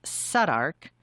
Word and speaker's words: Southwark: I would definitely suggest staying in a walkable area near the sites, such as South Kensington, Mayfair, Southwark, which is pronounced Southwark, no U or W, or my personal favorite, Westminster.